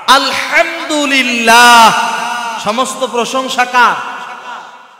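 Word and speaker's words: الحمد لله: হা আলহামদুলিল্লাহ, সমস্ত প্রশংসা কার? আপনি এখানে যদি বড় হা উচ্চারণ না করে বলেন আলহামদুলিল্লাহ, তাহলে এর অর্থ দাঁড়াবে সমস্ত ময়লা আবর্জনা আল্লাহর জন্য।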